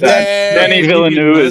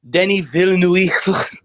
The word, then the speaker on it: Denis Villeneuve: Denis Villeneuve is amazing.